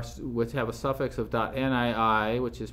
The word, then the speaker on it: nii: Nifty files which have a suffix of .nii, which is pronounced ni, or .nii.gz, which is the compressed version, this is a standard format.